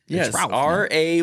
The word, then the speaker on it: Ralph: fiend's fines whatever you want to call them Reef fines Reef r a y pronounced ra fines uh what is your least